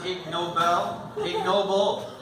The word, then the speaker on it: Ig Nobel: on the ignal prizes it's pronounced IGN Noel IGN notel so awesome you have to say it twice so what I'm going